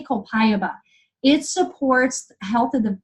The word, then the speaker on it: copaiba: little tip for you copaiba I love some people say copaiba some people say copay about I don't care how you say it it's amazing ok I say copaiba it supports health of